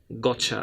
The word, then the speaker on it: gotcha: you from and then and I have got you then gets smaller to got you then gets a smaller again - gotcha okay so gotcha the word is pronounced in differ in different lengths well within Britain they